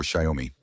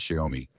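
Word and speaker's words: Xiaomi: Chinese brands like Huawei, Oppo or Shyomi. I hope I pronounced it correctly this time. As many of you have pointed out that we don't pronounce Shaomi.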